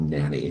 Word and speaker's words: Nani: I think it's going to be an organization that's called, I think it's called Nanny, but it's spelled Nani.